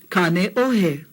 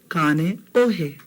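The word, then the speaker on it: Kāneʻohe: Kane Ohe. On the windward side. Kane Ohe.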